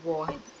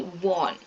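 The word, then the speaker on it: Vaughan: Option D, Thomas Kid and Henry Warhan. Usually we should not pronounce this as Warhan. Henry warn here G H is silent.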